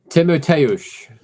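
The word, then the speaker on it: Tymoteusz: Timoteusz. So I wasn't far. You weren't far off. No, you weren't. Like a good shampoo. Like a good shampoo. Yeah. Timotei, yes. So, but just call him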